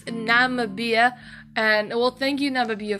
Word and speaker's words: Namibia: how you pronounce it I thought it was pronounced nambia but I I don't I don't think so um I had to actually go and watch a video on how to pronounce this country it's Namibia and well